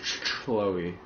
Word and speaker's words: Chloe: It's pronounced Chloe. Because it's a C-H.